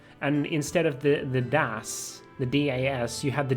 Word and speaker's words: DS: me that it's apparently supposed to be pronounced Das and not Das cuz I I've always called it the Das finding a few more keys